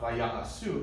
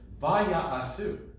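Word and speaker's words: ויעשו: Yeah, just notice here there's a meteg under the va, right? That means it's a secondary accent to the trope, which is on the last syllable. So it's not vaya'asu, it's vaya'asu. Do you hear the subtle difference? Vaya'asu. 2 accents. And specifically on the va, not on the ya.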